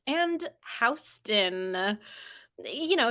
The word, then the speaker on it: Houston: round two question one what fourth most populous city in the U.S has a vowel combination in the first syllable that's pronounced differently from the Lower Manhattan street that has the same spelling foreign the fourth most